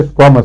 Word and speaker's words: squamous: اسکویمس sales, اسکویمس یا اسکوامس؟ اسکویمس.